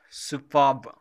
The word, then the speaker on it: superb: Here, the R is remained silent when we pronounce it.